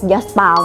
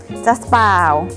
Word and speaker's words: Jaspal: จะ เป็น Just ป่าว จริง ออก เสียง ผิด ใน ทุก คน ต้อง เรียก ยัสปาล เนาะ แต่ ว่า คน ไทย ส่วน มาก ก็ จะ แบบ Jaspal นะ จ๊ะ เป็น Dress ลาย ทาง